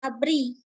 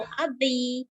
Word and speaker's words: ABRI: Tapi kalau akronim kita bacanya seperti kata. Contohnya ABRI.